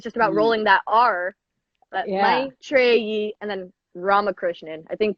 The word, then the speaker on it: Maitreyi: back screw it yeah I pronounce it my tray Yi my tray e yes everyone do your